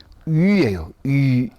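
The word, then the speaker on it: oui: 근데 프랑스에서이 글자 이름이 위에요 위에 발음하라고 해보라고는 학생들이 위 이렇게 바르면 위 위가 아니고 처음부터 끝까지가 바로 변치 않아요 단음절이에요 요거는 영어하고 다르니까 꼭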